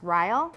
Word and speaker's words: royal: It's also pronounced rile. Royal.